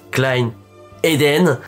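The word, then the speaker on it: Klyn Aiden: Donc, je m'appelle Klein Eden, ça se prononce Klein Eden. En vrai, je dis ça, mais je peux très bien laisser ou Klein.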